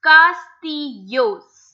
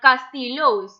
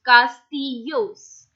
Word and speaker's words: castillos: Okay, so this double L is always pronounced as Y, as I mentioned in me llamo, if you remember. So this is a perfect fixed rule. It's castillos, not castillos. It's castillos. Castillos again are castles which